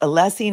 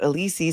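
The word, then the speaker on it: Alessi: Breen, it's pronounced Allessie, not Alisi says, "I have shiari malf formation in simple terms, brain stem herniation."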